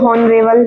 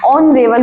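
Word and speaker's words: honorable: लोग कहते भी होंगे ऑनरेबल नहीं ऑनरेबल क्योंकि इसमें एच साइलेंट होता है बहुत से वर्ड्स में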